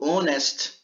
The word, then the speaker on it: honest: pronunciado alecrim h hotel só que quando eu falo honesto e também inicia por h eu não pronuncio aí eu uso ela